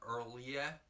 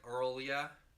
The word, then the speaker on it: R'lyeh: We have the Lovecraft scent, Earlia. What? R-L-Y-R-Lyeh, which people have different pronunciations for. I like Earlia. It's, you would never believe the variety of authoritative pronunciations. I'm gonna say Arlia.